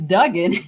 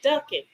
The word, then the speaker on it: Duggan: it had to be how do you pronounce his name it's it's duing but the reason I asked because somebody said yesterday ducking yeah they don't they